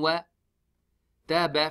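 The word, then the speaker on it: وَتَبَّ: Laha bin wa. Ta ba fata. Taba, ba fataba, taba. When we make the waqf, we make the ba sakin. Now, when the ba becomes sakin, we do the qalqala, and on top of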